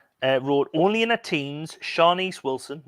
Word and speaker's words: Shanice: Dave Shawlin from the Gavin Report wrote, only in her teens, Shanice Wilson, that's Shanice, Oh, Shanice, sorry, not Shanice. Shanice. I'm adding extra syllables again, sorry.